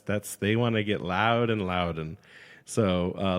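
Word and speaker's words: Loudoun: like pronunciations on Google so I thought it was ludun or London but like you said funny but no it's it's loud it's loud and like that's that's they want to get loud and loud and so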